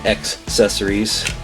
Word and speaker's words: accessories: My hybrid Michigan-Mississippi accent was mispronouncing the word accessories. I was forgetting the C sound in there.